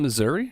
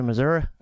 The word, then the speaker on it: Missouri: state you're not from you didn't even say it right if you're from there well what the hell am I supposed to say it isn't it is it Missouri there's no a at the end unless you go to Mizzou that's